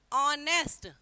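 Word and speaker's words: honest: किया था ही इज ऑनेस्ट ऑनेस्ट में एच साइलेंट है और यहां ववलू आ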